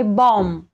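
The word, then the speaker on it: bomb: नंतर बी आलेला आहे तसंच आहे बॉम्ब इथे बॉम्ब म्हणत नाही आपण कधी पण बॉम्ब इथे सुद्धा एम च्या नंतर बी आहे आणि मी जसं सांगितलं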